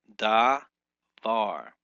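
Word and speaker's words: דבר: Uh, so the Hebrew word for word uh word for word is dvar and it is celebrified or brought in broken into syllables as davvar. Davvar. This is an example has two syllables each begin with a consonant.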